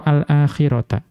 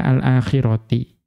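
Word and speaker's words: الآخرةِ: Namun fi qiroati man jarro al akhirata. Mengikuti qiraahnya ulama qiraah yang membaca al-akhirah dengan majrur. Jadi bacanya bagaimana? Turiduna aradod dunya. Wallahu yuridul akhirati. Ya, dibaca alakhirati bukan alakhirata.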